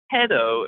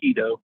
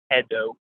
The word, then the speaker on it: Hedo: It's Hedo, at least in the English dub of the movie. So not Hedo, Hedo. So anyways, there's a correction on that.